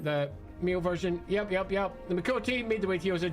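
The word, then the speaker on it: Miqo'te: The Mikote, although if you're pronouncing that correctly, it'd be Mikote, because if you put nobody really cares about glottal stops.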